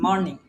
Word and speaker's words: morning: তাহলে দেখেন এখানে ওটা আমাদের এম আর ইস মোর, এম আর মোর, NING নিং, ইস মর্নিং, মর্নিং, বুঝছেন? মর ইস, এটার উচ্চারণ হচ্ছে মর্নিং, আমরা বলি ইস মর্নিং অশুদ্ধভাবে, এটার উচ্চারণ হচ্ছে শুদ্ধভাবে হচ্ছে মর্নিং, ইস ম আর হচ্ছে নিং, মর্নিং।